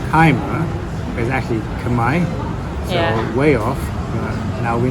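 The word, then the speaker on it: Khmer: pronunciation we just asked the waitress how to pronounce k h m e r I said time is actually Kamai yeah way off now we know so these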